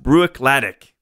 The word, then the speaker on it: Bruichladdich: Can't remember which year it was, and someone corrected me, and they said, no, it's pronounced Bruichladdich.